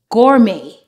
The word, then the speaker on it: gourmet: and used in English if the word ends with a T we normally don't pronounce it for example balet Buffet Gourmet Rapport this word doesn't